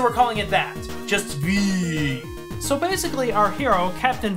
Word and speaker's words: VVVVVV: designed and created the game he called it V so we're calling it that just V so basically our hero Captain vidiian that's you